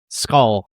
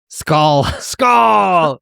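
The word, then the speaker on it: skål: Skull. Skull.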